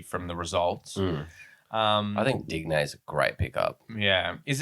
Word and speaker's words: Digne: know how to pronounce it. And from now on, we'll be calling him Digne.